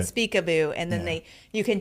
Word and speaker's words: Speakaboo: then just uh SLS Speakaboo and it's spelled how it sounds Speakaboo um s p a a k a b o o like peekaboo peekaboo but Speakaboo and then they you